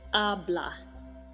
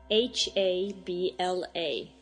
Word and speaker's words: habla: speaks in Spanish is habla h-a-b-l-a in Spanish there's one silent letter and it's the H so it's just pronounced habla so how would you